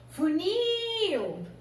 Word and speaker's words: funil: Funil. Qual que é a sílaba mais forte? Unil. Então, ela é uma oxítona terminada em IL.